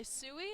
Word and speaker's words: Sui: I am currently joined by Sui. Is that the correct pronunciation? Yep.